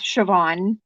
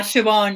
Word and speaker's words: Siobhan: unless you know gaelic or have heard it pronounced before like like the it's s-i-o-p-h-a-n so and that's siobhan yeah siobhan yeah yeah at that one i left that